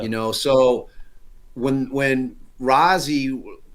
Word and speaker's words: Rozzi: know so when when rozzie he pronounces it Rosie but it should be rozzy but it's it but